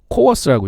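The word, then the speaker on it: CoWoS: 엔비디아의 블랙웰 칩은 COWS, 코어스라고 읽는데요.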